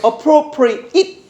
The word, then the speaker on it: appropriate: appropriate it appropriate appropriate 발음하면 이렇게 발음하면이지 적합한이라는 뜻의 형용사가 있지만 저번에도 한번 살펴본 거 같은데 apprpriate야 appropriate appropriate 강세가 로에 있습니다.